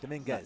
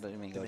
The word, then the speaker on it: Dominguez: Yes, Oscar, Yep, Oscar Dominguez. Dominguez. Not Domingo, Dominguez.